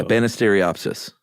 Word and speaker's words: Banisteriopsis: one yeah but it's it's pronounced like it looks yeah banisteriopsis there you got it